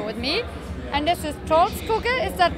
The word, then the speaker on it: Troldskugge: So I have the Wacken metal battle band from Norway here with me, and this is Troldskugge, is that correct? Troldskugge, yes. Okay, I guess I can pronounce it this way, but I tried.